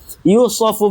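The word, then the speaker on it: يوصف: yu bihil mukallafir mukalaf atau sebentar ini bacanya salah bukan yudu ya yushofu bihil mukallaf whairu mukallaf yang Karena ahkam wad ini nanti ya berlaku bagi orang yang mukalaf dan yang bukan mukalaf.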